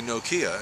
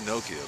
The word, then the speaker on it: Nokia: People say Nokia, and that's wrong. It's Nokia, by the way.